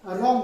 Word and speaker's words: wrong: इसको यहाँ पे ये W जो है साइलेंट है, ये साइलेंट है, इसकी आवाज हम नहीं तो वैसे अगर पढ़ना हो WRONG, वरांग, वरांग नहीं होता है, वरांग होता है, नहीं होता, तो इसको हम रॉन्ग पढ़ेंगे, RONG, रॉन्ग।